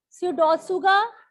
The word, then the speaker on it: Pseudotsuga: If I write down this word, How will you come to know that P is silent?